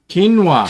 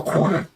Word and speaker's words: quinoa: it's spelled um Kiwa quinoa Ken Keen keing well you know I see Q you and I want to go quona but black beans rice